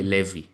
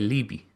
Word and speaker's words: Levi: We don't say levi, we say libby.